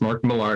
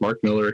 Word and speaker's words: Millar: And I know there's people out there who are going, no, it's Mark Millar. No, it's not. It's Mark Miller. He said his name is Mark Miller. It's Mark Miller. It's spelled M-I-L-L-A-R, but it's Miller.